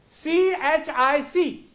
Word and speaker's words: chic: No, it is not chick, C-H-I-C-K, no doubt that is chick. But the word, it is a new word here. It is chic. The word is? Chic. So here, C-H gives us sh sound.